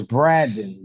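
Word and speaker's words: Bradon: So it's Braden B R D O N A D O N, right?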